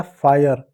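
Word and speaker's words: fire: देखो एफ को क्या पढ़ेंगे? एफ को फ पढ़ेंगे। आई को आ प्लस य पढ़ेंगे। आर को क्या पढ़ेंगे? र पढ़ेंगे। ई साइलेंट होगा। हो जाएगा फायर।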